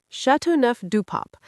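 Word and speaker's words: Châteauneuf-du-Pape: How do you pronounce that? I don't want to embarrass myself when I present it. Chateauneuf du Pape.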